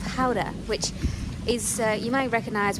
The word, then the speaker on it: Gouda: spend one night in Howder, which is Gouda to the English. We don't pronounce it like that. It's Howder, and then we're getting our ferry tomorrow.